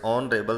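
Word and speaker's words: honourable: तो यहाँ पर इस ऑनरेबल शब्द की जो शुरुआत है वो भी एच शब्द से हो रही है, लेकिन इसका जो प्रोनाउंसिएशन है वो भी हमारा साउंड जो है वो वोवेल यानी स्वर से होने के कारण यहाँ पर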